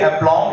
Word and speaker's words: aplomb: speaker's spoke with aplomb the good thing to note here is that P is silent we only say a block it's like the beginning